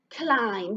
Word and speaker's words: climb: Climb. That's how it sounds, isn't it? Climb. But actually, climb has a B on the end.